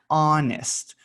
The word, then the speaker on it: honest: to happen be honest this one has a silent h so it doesn't make the who sound um it just says ah honest honest um you want to